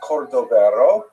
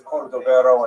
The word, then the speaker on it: Cordovero: his matzeva, his gravestone, it's Cordoero. It's a Portuguese spelling, but it's kind of a strange thing to pronounce in Hebrew, so it was sort of mangled into Cordovero, and that has become the standard, even though it's probably not correct.